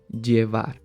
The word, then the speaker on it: llevar: is called ej okay most people would pronounce this verb with the sound of the y which is je var de var but you will hear